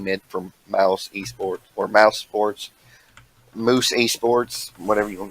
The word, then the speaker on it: Mousesports: He is actually going to be playing mid for Mouse Esports or Mouse Sports, Moose Esports, whatever you want to call it.